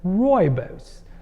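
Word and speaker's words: Rooibos: the third one I'm going to mention is Robos so Robos from South Africa is an African word we commonly mispronounce it and call rubos but it's like royos is a shrub that is renowned for lowering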